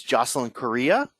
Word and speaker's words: Jocelyn Correa: Our guest today is Jocelyn Correa. Did I pronounce that right?